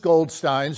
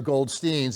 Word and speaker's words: Goldstein: But most Goldsteins or Goldsteins, and by the way, most of them say Goldstein because it's more assimilationist. It makes us seem more American if we don't use the German pronunciation.